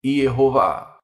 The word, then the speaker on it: Yehová: Colocando tudo junto resulta em Yehová. Ele participou da descoberta de mais de 1000 manuscritos que asseveram esta pronúncia, que em português é Jeová.